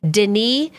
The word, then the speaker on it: Denis: we actually looked up the correct way to pronounce his name before we started this video and it is Denise he's getting like the